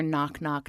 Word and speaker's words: Knock Knock: that's not quite knock okay that is knock knock and they start to develop their their knock knock knows you know with a silent k and um we just